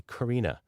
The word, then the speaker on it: Corina: So finished the book on Monday, and the author comes back and says, you pronounced Corinna wrong. It's supposed to be Corina.